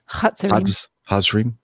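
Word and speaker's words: Hatzerim: And then the Z is pronounced T-S in the word it's. Okay, so Steph, go ahead. Hazrim.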